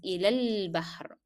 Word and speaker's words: إلى البحر: So alif in al-bahr will not be pronounced. You will skip it. You will drop the pronunciation of alif in al-bahr and move from alif in ya to lam. So it is ilal bahr.